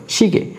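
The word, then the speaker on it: 시계: ইয়ে উচ্চারণ হবে না, এ উচ্চারণ হবে। যুক্ত স্বরবর্ণের শেষের অংশ আমরা উচ্চারণ করব, প্রথম অংশ উচ্চারণ করব না, ইটা উচ্চারণ করব না, এটা হবে শিগে, শিগে।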